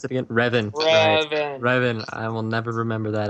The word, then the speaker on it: Revan: Star Wars the Old Republic called shadow of ravan Riven dang it Logan how do you pronounce it again Reven I will never remember that I always go